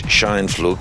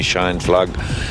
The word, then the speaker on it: Scheinflug: In German it's Les Scheinflug, but being a long time in Australia they call me Scheinflug.